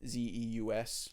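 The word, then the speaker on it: Zuse: no Zeus I looked it up so it's it's spelled z-u-s-e so it is like Zeus but not like z-e-us okay Zeus which is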